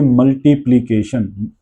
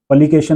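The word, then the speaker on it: multiplication: मल्टीप्लीकेशन, मल में अ की साउंड है मल, ट में ई, टी, प्ल इकट्ठा है प्ल, इट्स नॉट पल, पलिकेशन नहीं है, प्लीकेशन, प्ली इकट्ठा आ रहा है तो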